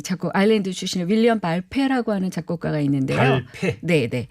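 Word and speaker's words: Balfe: 발페라고 하는 이 작곡 아일랜드 출신의 윌리엄 발페라고 하는 작곡가가 있는데요. 발페. 네네. 피읍에다 어이 발음. 네, 어느 페. F입니다. 발페. F.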